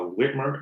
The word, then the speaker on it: Whitmer: to kidnap um the government the governor uh whitmer that's how you pronounce the name to kidnap the goddamn government